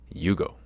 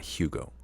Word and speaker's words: Hugo: his name is pronounced Yugo like Yu-Gi-Oh but definitely not like Yu-Gi-Oh just like the Y part even though it's spelled Hugo it's not Hugo it's Yugo I learned